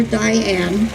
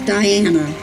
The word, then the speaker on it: Diana: One thing that would upset Diana is when somebody called her Diane or spelled her name wrong. She would correct them and tell them that her name was Diana.